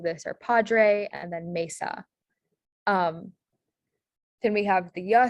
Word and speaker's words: mesa: Yeah, so for Spanish, we have the A sound in Spanish, which is usually spelled with the E. So examples of this are padre and then mesa.